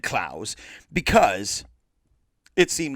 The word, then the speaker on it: Clowes: his name is pronounced it could be clothes it looks like clothes but i always said klaus because it seemed like